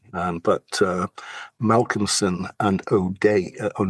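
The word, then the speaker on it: O'Dea: Um, but, uh, Malcomson and O'Day, O'D, that's the way you pronounce it, in 1863.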